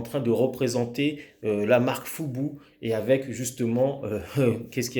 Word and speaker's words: FUBU: Ok, Fubu, F-U-B-U. Donc s'il te plaît, ne prononce pas ça à la française en disant Fubu, s'il te plaît, ça ferait vraiment trop naze.